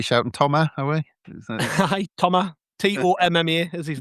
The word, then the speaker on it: Thomas: Yes, and the name you're looking for is Thomas Meunier. That's Thomas Meunier. You don't pronounce the S apparently, but I think the English will just go with Thomas.